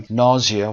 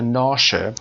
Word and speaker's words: nausea: از محیط بسته و nausea دو تا تلفظ داره nausea و یا nausea که حالت تهوع لاشوب